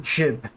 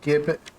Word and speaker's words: gib: Nice gib. Or is it jib? It's like GIF and GIF, right? Gib and gib. Listen. Pronounce the way I like it, okay? It's gib and GIF.